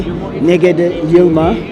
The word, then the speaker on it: Negede Yilma: I'm here with let me know if I'm pronouncing this correctly NE yilma yes from the National Bank of Ethiopia so